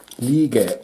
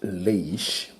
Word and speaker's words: Lige: I have bought a new quartz watch by the name of Lige 10045, and this brand is pronounced Lige and not Lige.